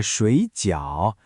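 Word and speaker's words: 水饺: 吃的水饺，水是第三声，饺也是第三声。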